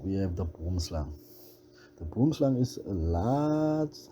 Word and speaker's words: boomslang: In Afrikaans, the name is pronounced boomslang.